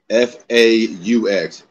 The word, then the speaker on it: faux: The X is silent.